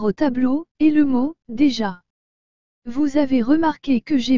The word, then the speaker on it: déjà: déjà et non de ja cela parce que le e est accompagné de cet accent aigu vous avez aussi remarquer que la lettre des suivis de la lettre e avec cet accent doit se prononcer d et que la lettre j avec le à se prononce ja donc toutes ces lettres ensemble donne déjà voici maintenant le deuxième mot